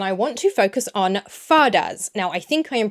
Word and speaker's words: fada: want to focus on fadas. Now, I think I am pronouncing that word right. It's spelled F-A-D-A, and I think fada is the way to pronounce it.